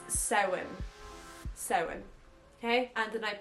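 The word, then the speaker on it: Samhain: the way it's spelled I understand why you guys pronounce it Sam Hayne but it's sewing SE okay and the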